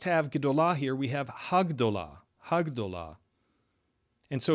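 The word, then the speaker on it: הַגְּדוֹלָה: I'm not going to get into the reasons why right now, but when gdollah has the definite article added to it, it becomes hagdah. Hagdah. And so hagdollah is the expected feminine singular defined form of the adjective gadl.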